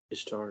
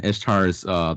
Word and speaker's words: Ishtar: How do you pronounce it? Ishtar is how I pronounce it.